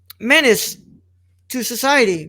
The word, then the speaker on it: Menace II Society: let's introduce them to uh manage the society menace to society pronounced minister society it's spelled menace with the the